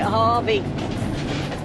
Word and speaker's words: Hervey: we're going to heavy I think it's heavy but everybody seems to pronounce it Harvey right so off to